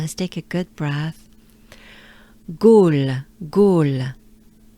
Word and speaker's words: Gaulle: Gaulle, Gaulle. O. It's a pretty closed up O, right? All. L. It's a slight L. All. Gaulle. Let's do it together ensemble. Let's take a good breath. Gaulle.